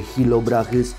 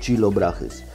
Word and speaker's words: Chilobrachys: Mówi się Hilobrachys, a nie Chilobrachys, bo chili to są papryczki. No, nie czyta się tego jako czy, to jest Hilobrachys.